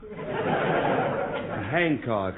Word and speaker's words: Hancock: C ho c k the H is pronounced and anybody who says it h is ignorance Handcock address well actually I